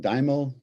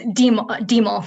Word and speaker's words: Demel: Is it Dimo? Am I pronouncing that correctly? It is Demel.